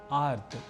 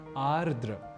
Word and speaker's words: आर्द्र: सौहार्द ना कि सौहार्द्र इसी तरह से एक शब्द है आर्द्र जहां हम संभवतः स्वयं ही सरलीकरण के सिद्धांत का अवलंबन करने लगते हैं और लिख और बोल जाते हैं आर्थ या आद्र जबकि शुद्ध रूप है आर्द्र अर्थात जल तत्व से